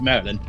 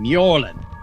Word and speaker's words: Mjorlin: dwarf none taken but people always mispronounce it and it gets quite annoying i'm not merlin i'm mjorlin mjorlin anyway i'm sure you